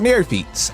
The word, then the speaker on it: neophytes: It's a neophyte. Oops. Can I reread that again? Where is it? Neophytes. Okay. It's actually very easy to... Basically, the Y is an I.